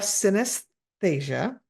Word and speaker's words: synesthesia: Your bio ends with a statement that you, and let's make sure I pronounce this correctly, you have synesthesia.